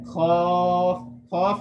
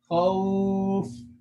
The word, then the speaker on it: خوف: Khaf is wrong. It's khaw. Is an oo sound at the ending. Khawf.